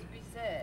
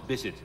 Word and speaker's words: Bisset: And Jacqueline Bisset, she likes to say her name is Jacqueline Bisset. I thought it was Bisset. No, it's Bisset.